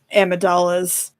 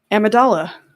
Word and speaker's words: Amidala: he couldn't take um Amidala's uh you know separation from him hold up how did you say her name amadala oh my God okay that's how you pronounce it it's Amidala no watch the CL